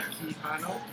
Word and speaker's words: Quijano: my name is kiano that's phonetically keano it's a Spanish name I am a first